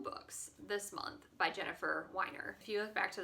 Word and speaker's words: Weiner: about Jennifer Weiner and we refer to her as Jennifer Weiner, and I have since listened to a podcast featuring her and realized that the correct way to pronounce her name is Weiner.